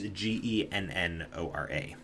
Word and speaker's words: Ganora: I don't I I don't um Ganora is ge n o r a gora. Um, or genora is how you could also pronounce it. um depending on your dialect.